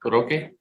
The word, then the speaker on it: Roque: Roque. Roque. See, there was no accent over the E.